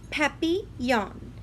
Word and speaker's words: Papillon: like our neighbor's dog you say it like this Pepe young and French it means butterfly can you say happy on Papillon I helped mrs.